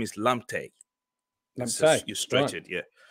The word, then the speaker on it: Lamptey: Let's bring on Asni Lamptey next. Am I pronouncing that correctly? Yes. I'm the second one of the Lamptey, you know, the Brighton player. Lamptey.